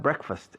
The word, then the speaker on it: breakfast: Pero la pronunciación se ha evolucionado hacia una palabra de sonido diferente. Break, no break, breakfast. Practicad esa palabra, su fonética un poquito, porque la gente aquí muchas veces lo dice mal.